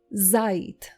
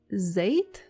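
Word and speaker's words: זית: The next word for today is zait.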